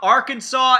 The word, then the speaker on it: Arkansas: I'm talking about Arkansas and Illinois. Why is there an S? Why? There's no reason for it to be there.